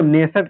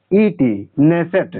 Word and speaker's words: Knesset: संसद इसकी संसद को नेसेट कहते हैं, इसमें के साइलेंट होता है। ठीक है, KNESSET, नेसेट यहाँ की संसद है इजराइल की।